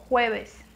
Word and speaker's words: jueves: Presta atenção na pronúncia, que se escreve como jueves, mas não tem o som do J e não tem o som do V. Jueves, certo?